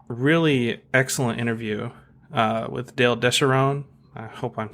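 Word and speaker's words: DeSharone: 101 had a really excellent interview with Dale Descharoun. I hope I'm saying his name right. I think that's right. Yeah. Mm-hmm. Yeah, it's Descharoun. Apparently, it used to be pronounced Descharoun or something.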